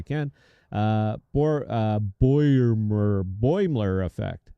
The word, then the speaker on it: Boimler: Boimler effect. How do you say that, Bell? B O I M L E R. What is it? Boimler.